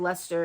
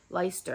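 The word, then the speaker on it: Leicester: face Le leer Le I always said leester it's leer I think please correct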